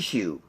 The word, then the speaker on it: Pichu: So the first one I'll show you here is number 579, and that is I can't pronounce his name. Pichu.